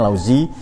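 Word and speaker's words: Laozi: sampai laut zo lauzi caraa bacanya lauzi kemudian plat socrates pyagor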